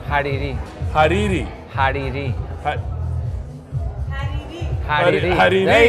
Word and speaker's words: Hariri: I've got with me a good friend, Hadi Hariri. How you doing, buddy? Did I say it right? No, but... How do you say your last name? Hariri.